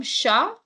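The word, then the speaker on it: chat: CH h a t and the last letter s or t when it comes at the end it's silent so how will you pronounce CH a anmol come on you have to try this I'm sh sha very good so a is a so CH a will become sha and T is silent so sha what is a Sha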